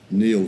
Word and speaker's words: Niall: Against intellectual property is the book by Stephen Kinsella, spelt Stephen, but I believe pronounced Stephen, as Neil Ferguson is not Niall Ferguson, even though it's spelt that way.